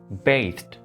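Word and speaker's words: bathed: इस वर्ड को completely different pronounce किया जाता है, बेस्ड, बेस्ड, बेस्ड।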